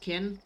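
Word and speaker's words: Kine: Oh, it is pronounced kin? Okay. Just without the E.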